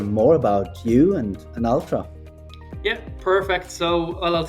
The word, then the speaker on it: Altra: thank you for joining us so I've known Ultra for some time is that how you pronounce it Ultra or yeah Ultra Ultra and I've been following tabs or keeping